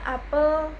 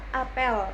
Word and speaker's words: apel: Yang pertama, apel buah. Secara fonetik huruf E-nya diucapkan terbuka dan lebar, E. Transkripsi fonetiknya itu seperti ini penulisannya. Yang kedua, apel, upacara atau berkumpul. Secara fonetik, huruf E di sini diucapkan lemah atau samar, E seperti itu.